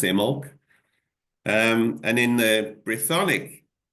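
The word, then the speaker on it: Imbolc: which is spelled I BC imul but it's pronounced imul um and in the bronic Celtic which which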